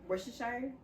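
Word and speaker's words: Worcestershire: Red Hot but I added seasoning in like wores Shire that's how you say it don't you add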